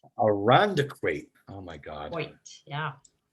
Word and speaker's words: Irondequoit: And I can never pronounce the name of your town. Irondequoit? Irondequoit. Irondequoit.